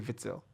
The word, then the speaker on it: Witsel: And if you're Axel being Witsel. more very particular about the language, it's actually Witzel. It's actually Witzel. Yeah, Witzel.